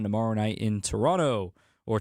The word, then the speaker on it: Toronto: I've learned that that's a way to identify yourself as an American whenever you say Toronto. When you actually say the T, they actually like ch.